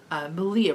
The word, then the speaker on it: Malia: I will also say one thing that has helped me is that I use Malia, Rhymes with Maria told me about Inbox, which is just an app.